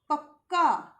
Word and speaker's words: पक्का: के नीचे हलंत लगाएंगे यदि हमने इस प्रकार से क के नीचे हलंत लगाया अर्थात ये क अधूरा है आधा है और इसका उच्चारण होगा क बहुत थोड़ा सा छोटा सा शॉर्ट ठीक है जैसे कि अगर मैंने बोला पक्का तो ये जो बीच वाला क है ना ये स्वर रहित है विदाउट स्वर है बिना